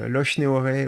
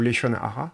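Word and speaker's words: לשון הרע: On appelle aussi Losh Nehoré ou Leshon Hara. Enfin, la prononciation est différente selon que vous avez une prononciation comme en Ashkenaz ou Sépharade.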